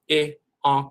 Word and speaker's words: Iankh: There's a dialectical variant of Ankh where you have the I in front of the A and it becomes I, Ankh, or IANKH, IANKH, and that's very important.